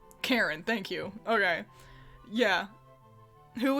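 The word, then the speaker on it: Charon: how is it pronounced is it sharon sharon karen he's named after pluto kind of karen thank you okay yeah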